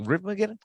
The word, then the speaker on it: Riffmageddon: Riffmageddon for sure.